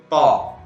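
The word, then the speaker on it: ط: Lalu nama huruf, ya, nama huruf yaitu to. Ini ditulis TA, lalu di sini ada komanya, lalu di sini ada titiknya. Jadi bacanya to, jangan ta, ya, gitu.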